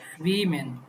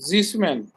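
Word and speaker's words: schwimmen: এস সে হা প্রথমে থাকলে স এর মতো উচ্চারণ হয় না? হ্যাঁ, তাহলে কি হবে? সুইমেন। সুইমেন, সুইমেন, সুইমেন না জিসমেন, সুইমেন না জিসমেন কেন?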